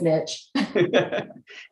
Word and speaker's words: niche: could come up with that niche or niche, however you'd like to. Depends on how fancy you are, how you say it, I think. They both work. Over here on the Missouri side, I think we say niche, but anyway. Yeah. Where I come from, it's niche. Anyway, Tanya, I'll come back